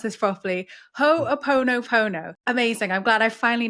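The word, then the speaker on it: Hoʻoponopono: I'm going to attempt to pronounce this properly. Ho'oponopono.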